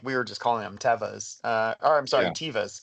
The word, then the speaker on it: Teva: So it's been funny when people are like, "Oh, you're at Tiva," and I'm like, "No, it's Teva," and so it's Yeah.